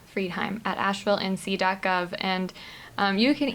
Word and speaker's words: Friedheim: little difficult um so m f r i e d like fried and then h-e-i-m friedheim Asheville nc.gov and you